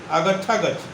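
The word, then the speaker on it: आगच्छ गच्छ: दोनों एक साथ उच्चारण कीजिएगा, तोड़ के नहीं बोलिएगा। जब भी मंत्र करेंगे तो ओम ह्रीम एम मंदाकिनी निवासिनी अप्सरा आगच्छा गच्छ, एक ही बोलना है। आगच्छ फिर रुक करके गच्छ नहीं बोलना है, आगच्छा गच्छ बोलना है, ह्रीम एम।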